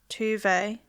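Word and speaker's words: Tove: Welcome to the centre of our world, Tuve. Is that how you say it? Yeah, like Tuve Lo.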